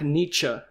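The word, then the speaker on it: Nitzsche: Jack Nietzsche.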